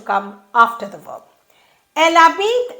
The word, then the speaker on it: habite: Elle habite à Paris. This verb begins with a silent H, so elle n'habite pas à Paris.